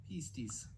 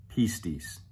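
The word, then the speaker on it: πίστις: In fact, I'm going to let the software tell you how to pronounce it. Pistis. Pistis.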